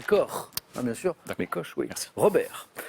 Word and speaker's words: Koch: ça fait neuf j'accepte coche sur la commune allemand on va le prononcer corps bien sûr mes cauchemars